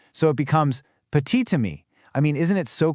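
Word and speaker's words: petit ami: Well, if petit is followed by a word that starts with a vowel like ammy, that silent t suddenly jumps back to life to link the words.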